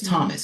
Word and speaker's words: Tomas: Somebody just yelled out, they're like Michelangelo, and then somebody said Thomas, but it's spelled Tomas, but it's Thomas.